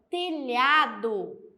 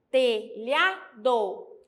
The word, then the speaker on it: telhado: palavra telhado telhado a aqui eu também tenho o LH então eu não vou ter a mesma quantidade de letras e a mesma quantidade de fonema porque o LH tá lá na minha listinha que são duas letras juntas mas que formam somente um fonema nós temos a palavra